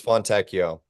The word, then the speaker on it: Fontecchio: It's Fontecchio. Fontecchio. Fontecchio. So the Italian rule, you could look at it like with Pinocchio or fettuccine.